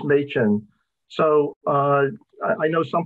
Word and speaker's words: Machin: introduction and uh uh there have been some uh different pronunciations of m-a-c-h-i-n but i think the one that is correct and extend most generally accepted is machine so uh i know